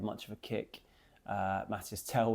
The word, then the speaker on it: Mathys Tel: Uh Mathys Tel, when he came on, or Matys Tel, I've been told I'd be pronouncing it wrong.